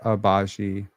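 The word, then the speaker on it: Agbaji: It's like Abaji. The G is silent in English.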